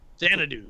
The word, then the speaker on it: Xanadu: Xanadu.